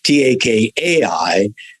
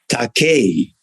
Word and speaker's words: Takei: Takei in Japanese would be spelled Takai, and it means expensive. And immediately say, "Oh my goodness, I don't want to call my actors expensive." And I said, "Well, how it should truly be pronounced is Takei."